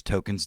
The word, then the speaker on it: Tolkien: was Tolkien they just it's just pronounced token so he's like dealing